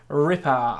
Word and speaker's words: Ripart: In this video today, we are going to be trying out the 83 rated Ripart. I'm presuming I don't pronounce the T since it's a French name.